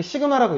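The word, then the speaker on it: Σ: 자, 두 수열 AN과 BN에 대해서 시그마, 이게 시그마라고 읽어요.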